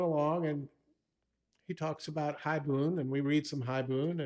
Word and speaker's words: haibun: Is it haibun?